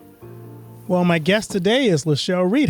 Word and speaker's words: LeChelle Redd: Well, my guest today is Lechelle Reed. How you doing? I am great. I am great today. Thanks so much for asking. It is Lechelle Reed.